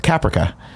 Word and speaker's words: Caprica: I also want to applaud you for your pronunciation of caprica. You said caprica, which I like. It's like paprika.